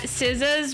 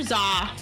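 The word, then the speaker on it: SZA: I actually just realized that Siza's pronunciation is Siza. I've been calling her Zah like this whole time.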